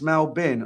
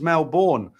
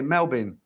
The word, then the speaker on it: Melbourne: Melbourne pronounced Melbourne. Oh, is it? I always thought it was Melbourne. Okay, Melbourne.